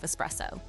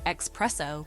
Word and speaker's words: espresso: Finally, we have espresso. Some people mistakenly say espresso, but the right way is espresso. It's like saying es and presso together.